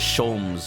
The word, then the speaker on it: Sholmes: corner says no no that's that definitely says shomes it's it's one of those things it's it's pronounced differently from what it's spelled all